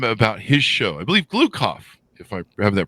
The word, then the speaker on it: Gloukhov: I believe Gloukhov, if I have that pronounced correctly, don't I, Michael?